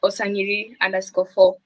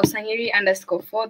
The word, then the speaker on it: Onsangiri: Now I don't even pronounce it with a nga sound. I just pronounced it with the just the way you read it.